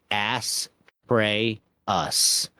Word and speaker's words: Astraeus: Name: Astraeus, pronounce ass, pray, us.